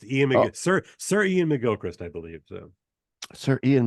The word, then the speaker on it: Iain McGilchrist: master in his emissary uh how do you pronounce his name um uh Ian mcgilchrist Ian Ian mcgilchrist I got it right then yeah yeah I